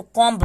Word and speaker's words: comb: तो यहाँ पे हमारा रूल आएगा कि जब भी बी के पहले एम आए तो हमारा बी साइलेंट हो जाता है।